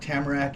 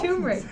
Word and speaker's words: Turmeric: And today we've got Tamarack and Tequila with Tamarack? us. And Tamarack, what is Some that? did I say it wrong? Turmeric.